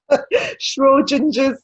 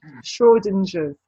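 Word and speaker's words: Schrödinger: heard of schwarzenegger's cart i didn't even what shrew ginger's cat i know i'm pronouncing this have you heard of it okay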